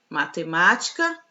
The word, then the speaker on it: matemática: nós temos três palavrinhas matemática cansaço e pardal bom então olha só o última penúltima antepenúltima então a antepenúltima sílaba da palavra matemática é a sílaba tônica e as demais são